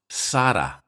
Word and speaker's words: Sarah: For instance, in all these languages, the name Sarah is pronounced Sara, using my transcription. Sara, Sara, Sara.